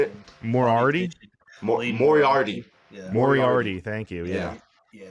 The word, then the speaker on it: Moriarty: say it more already moriarty moriarty thank you yeah yeah it's actually said how it's spelled it's kind of weird